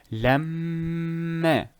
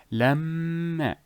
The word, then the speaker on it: لما: Another example for the meme, let us say لما. Lamma. That extra emphasis. Lam. That that is the ghunna. Lamma.